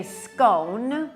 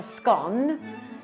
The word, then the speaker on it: scone: And then on your scone, which we would say scone, and you say a scone, there's a real debate.